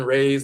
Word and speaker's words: Ra: And the god Rei is the sun god, and sun rays, they'll say Rei instead of Ra. They've always mispronounced it.